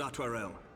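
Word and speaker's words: Artoirel: Your assistance is most welcome, Lord Atwarel. To arms, then, friends. Time is against us. Altarel. I would never have pronounced it that way.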